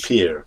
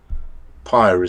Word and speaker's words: PYR: Well, I think I would go with the Greek as peer. But Pyre sounds more fiery. But I've been calling it Pier. That's Doesn't trip off the tongue well though when you're in English.